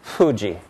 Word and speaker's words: Fuji: sounds like this and it's how Japanese pronounce the first sound of the name of this famous mountain Fuji we use a different sound here but in Japanese it's Fuji and Fuji it's voiceless its non-nasal it's bilabial and it's a fricative and the second of